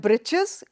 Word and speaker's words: breeches: The writer here spells it as breeches for fun, to rhyme with the word witches.